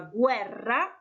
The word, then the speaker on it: guerra: a vibration ok and put some stress on it make it a strong are so try please to pronounce those two words I wrote for you on the slide the word Italian is la guerra la guerra and the chariot is ill karo ill car ro ro G seat difference with